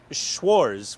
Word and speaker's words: Schwarz: butchered schz is black Schwarz without the te though um here's the thing though the Z is pronounced like it's a TZ which is I know but but it wasn't spelled with a TZ right but that's why